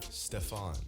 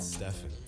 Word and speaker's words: Stephen: The Nike rep that was pitching the deal to Curry called him Stefan, not Stefan.